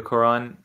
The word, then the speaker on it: Qur'an: The people read Qur'an, the Quran. If there's no markings there, if there's no Hamza, you can't even pronounce Qur'an. Okay? You can't pronounce Qur'an without Hamza. It would just be Quran, Quran.